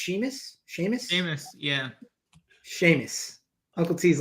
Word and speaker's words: Seamus: And Snyder, I'd assume, considering how high you are on, is it pronounced Seamus? Seamus, yeah. Seamus. Uncle T's laughing. Is that how it's pronounced? Seamus. No, it's Seamus.